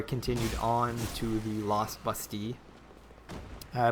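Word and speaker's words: Bastille: on to the lost busty. Uh, busty being a French word. And being that I am French, well, that's how it is pronounced.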